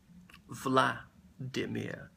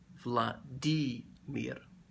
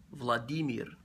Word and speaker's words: Владимир: Мы говорим Владимир, не Владимир. Владимир неправильно. Владимир правильно.